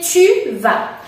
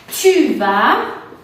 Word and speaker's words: tu vas: Después tenemos tú vas, que se dice tu vas. Tu vas, con el sonido U del abecedario, tu vas.